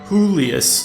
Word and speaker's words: Julius: Or, my bad, I guess now I should use the Spanish pronunciation. Julius.